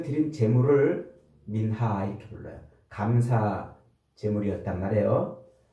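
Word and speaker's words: מנחה: 히브리 원으로는 민하 이렇게 발음을 하는데 민하 감사 예물이에요.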